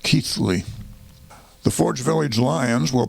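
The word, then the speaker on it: Keighly: ke i g h l y but it's pronounced keithly the forge Village Lions will play the pcket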